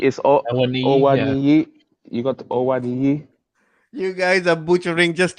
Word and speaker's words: Awoniyi: I'm the Nigerian here, and I'm telling you, you've got to say it with. It's the accent of how you say certain names.